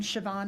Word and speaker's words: Siobhan: I'm Siobhan. So my name is spelled the old Gaelic way, so it makes no sense how it's spelled and how it sounds. You said Siobhan?